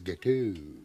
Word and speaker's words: gâteau: Yeah, the X is silent. I thought with your French-Canadian connection, you would have known that. Gâteau. So it's gâteau as opposed to gâteaux.